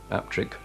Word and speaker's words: Appletreewick: On the east side of Wharfdale, between Burnsall and Bolton, Appletreewick, locally pronounced Aptrick, is a pretty one-street village of great antiquity.